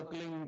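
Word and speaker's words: क्लीं: की मात्रा और बिंदी उसका उच्चारण होगा कलिंग ग ग की नी निकलेगी पीछे आप अंग बोलो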